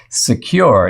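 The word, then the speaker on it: Sekur: there a better way well yes there is secure it's spelled s-e-k-u-r offers secure instant messaging and email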